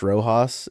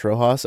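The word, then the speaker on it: Rojas: Slightly changed the pronunciation for my for my bit. Not Josh Rojos. It's just April 2024. Josh Rohos.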